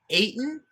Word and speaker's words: Ayton: like the religious blood ayton rhymes with satan so they're not signing